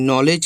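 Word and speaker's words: knowledge: है प्लेज कहलाती है के साइलेंट इसमें देखिए नॉलेज की स्पेलिंग है ये के साइलेंट होता है एनन ड साइलेंट है एल ई से ला में एक की य पर ला में एक की मात्रा डी भी साइलेंट होता है जीई से जा य नॉलेज की स्पंग के एन डब्लू एल डी जी ई जी से क्या है जा नॉलेज का मतलब होता है ज्ञान नॉलेज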